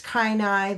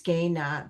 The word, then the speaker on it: Kainai: There's Kainai, there's also Gaina, but I use Gaina. That is the traditional way we pronounce our nation.